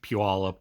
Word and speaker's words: Puyallup: It's like someone who comes from out of state of Seattle tries to pronounce like Puyallup or Tillamook or any of our Northwest Pacific Indian tribe name.